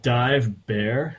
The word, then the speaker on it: Dive Bär: It's called Dive Bear, which when you read it in English, it looks like the dive bar, really. But the bear is spelled in German, so the B with the umlaut over the A and the R.